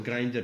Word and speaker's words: Grindr: c'è Grindr, che poi non ho mai capito se si pronuncia Grindr o Secondo Grindr, me è quello, Grindr. anche secondo me, però lo sento chiamare Grindr, quindi non lo so, vabbè, comunque anche secondo me è Grindr.